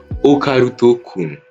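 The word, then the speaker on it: オカルト君: concrètement en fait okaroun c'est juste le diminutif de occultte Kun qui se prononce en japonais okaruto Kun ensuite le manga fait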